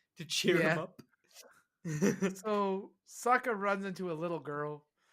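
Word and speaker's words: Sokka: cheer him up so Saka runs into a little girl and he goes over to he's like my name's Saka it rhymes with AKA and I was like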